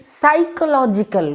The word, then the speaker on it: psychological: Okay, next we have the options of question 38 on your screen, and the right answer is B, psychological, where P is silent.